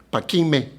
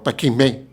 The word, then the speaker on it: Paquime: Chihuahua un estudio sobre Paquime, no Paquimé, Paquime. Paquime, porque es la forma en que más se asemeja a la lengua yuto-azteca y a la lengua, a la misma rarámuri. Si pronuncias la E con acento, se escapa un poco, pero Paquime suena mejor a Yome, a Siome y Paquime.